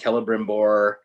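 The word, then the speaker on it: Celebrimbor: the rings and um all of his c names have a hard c sound so it's like kelliborn kelebrimbor um i recognize that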